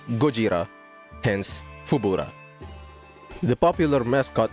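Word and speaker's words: ゴジラ: character's inspiration was Godzilla, which is in Japanese pronounced as Gojira, hence Fubura.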